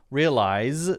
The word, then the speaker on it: realize: to me because it is a z sound right like size there's a z there realize there's a z there and when I see that r-e-a-l-i-s-e my brain goes real ice and I think what